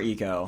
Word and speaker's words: Eco: damn game AO or Eco it's it's I thought it was IO as when I was younger but it's eco eco okay yeah okay I